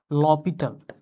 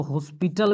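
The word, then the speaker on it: L'Hôpital: लॉपिटल। जिसको जो है कुछ बच्चे जो है इसको हॉस्पिटल भी पढ़ते हैं। 11 12th के बच्चे इसको जो है एल हॉस्पिटल रूल जो है पढ़ते हैं। यहां एच साइलेंट है। लॉपिटल है।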